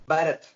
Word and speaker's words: Bharath: By the way, first, how do you pronounce your name? Bharath. Bharath. One more time, Bharath.